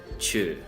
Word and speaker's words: ཆོས: So here the sa will change this o to like an sound, right? And like the umlaut sound. So it basically gets spelled out and then pronounced cha, naro, cho, sa, chu, okay?